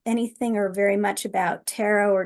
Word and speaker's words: tarot: So for those who don't know anything or very much about tarot or tarot, as they say, what is the major and minor arcana, if you might don't mind?